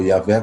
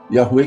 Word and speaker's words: Yahweh: aqui é Yahweh, ou Yahvé, como a gente fala mais aqui no Brasil. Yahweh, quem fala mais são os falantes de inglês, e é a pronúncia mais correta, no meu entender.